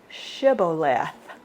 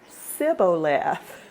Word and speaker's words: Shibboleth: So if he said nay, verse 6, then they said to him, Say now Shibboleth. And he said, Sibboleth, for he could not frame to pronounce it right.